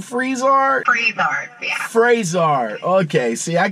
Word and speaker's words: Frisard: I'm interested in knowing a little bit more about how you pronounce the company name, Frisard? Frisard, yeah.